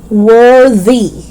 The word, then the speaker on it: worthy: worth five dollars okay worthy worthy so it's voiced worthy worthy is the